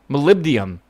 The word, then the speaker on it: molybdenum: Molybdenum. Molybdenum. Oh my god, it's funny because I see it like phonetically in chat, and then I'm like, oh my god, of course.